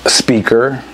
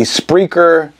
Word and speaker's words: Spreaker: You have Speaker. That's not how you say it. And a couple more would be Spreaker, and I could put some more in the chat if you want to know.